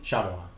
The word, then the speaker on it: Shyamalan: This is because when Shyamalan approached Disney... Shyamalan. Yes. That's how we actually say his name.